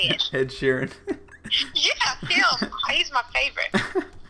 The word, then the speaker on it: Ed Sheeran: Ed Sheeran.